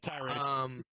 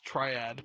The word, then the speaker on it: tirade: I believe that's how you say it. Yeah, tirade. Tirade. Okay. I thought it was triad, but I was Nah, wrong. tirade, bro.